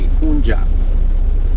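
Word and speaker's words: Poonja: That's spelled P-O-O-N-J-A, Punja, lovingly known as Papaji.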